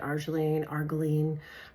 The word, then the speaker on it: arginine: And the product, the ingredient in this is, it's called arginine. Some people pronounce it arginine, but that's the ingredient in the product that diminishes lines, wrinkles, pores, lifts, tightens, all that stuff.